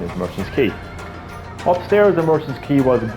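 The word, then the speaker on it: Merchants Quay: was a kid I used to call it Merchant's Queen because that's how I pronounced QA y i didn't pronounce as key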